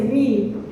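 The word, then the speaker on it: ні: Be careful, it's not hi, it's no, I. Yeah, let's say ni. Ni is no in Ukrainian.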